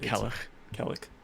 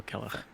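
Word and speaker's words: Cailleach: Sadly, I'm not able to pronounce it quite as well, but Kellich. But ACH would be a huh. So Kellich. But yeah, I think.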